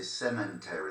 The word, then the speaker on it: cemetery: it in English and they say cemetery like cement, you know, like like it's made of cement. Cemetery. There's no there's no N.